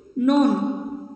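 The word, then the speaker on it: known: ডব্লিউ E double L নোন কে এ এন ও ডব্লিউ এন ঠিক আছে নোন কেন এখানে দেখ কে টা সাইলেন্ট আছে ঠিক আছে তাই বানানটাও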